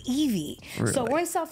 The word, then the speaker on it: Ivy: It's Evie, but it's okay. What'd I say, Ivy?